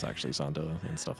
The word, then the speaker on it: Zonda: Well, I'm also on record for intentionally saying Zond, but it's actually Zonda and stuff like that.